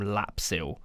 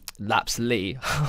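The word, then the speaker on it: Lapslie: goal for Torquay was from lapsil uh I believe that's how you say his name um laps Lee just been corrected dagenham and Redbridge is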